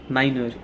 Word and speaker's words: niner: In 9 they would say niner. They would add ER.